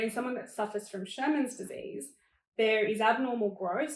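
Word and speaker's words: Scheuermann's: So as I mentioned, at 14, I was diagnosed with Sherman's disease. So there's the word Shermans. Okay. It's not spelled like Shermans, though.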